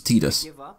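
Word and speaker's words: Tidus: behind the name and almost every time that name's been spoken on-screen it's been pronounced "Tee-dus", with the one outlier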